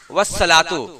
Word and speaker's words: والصلاۃ: کو پڑھتے ہیں والثواب۔ اسی طرح والصلاۃ آپ دیکھیں کہ لکھا ہوا ہے والصلاۃ لیکن پڑھتے ہیں والصلاۃ۔ معلوم کیا ہوا کہ